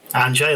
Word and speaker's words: Anjay: Anjay, that's the one. Anjay, yes, pronounced it correct.